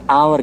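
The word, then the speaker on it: hour: आवर के अंदर S silent है।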